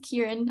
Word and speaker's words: Kieran: space yeah thanks um Chiron Karen I'm not sure hi yeah my name is Kieran I know it's a little phonetically incorrect so um that's okay